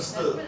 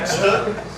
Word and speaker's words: stöd: Is my pronunciation of stöd correct? No. How about Sounds good to me. stöd? Yeah. Yeah, there we go.